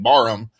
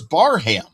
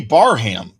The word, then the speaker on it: Barham: of his last name, I think we've all been saying Barham. We found out on Friday that he prefers Barham. So he will be Barham from this point forward as long as I can remember that.